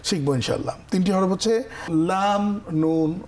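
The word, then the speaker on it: لام: এইখানে কিন্তু আমরা ছবিটাকে মনে রাখবো যে ল্যাম্প, লাইট এর সঙ্গে মিলিয়ে লাম।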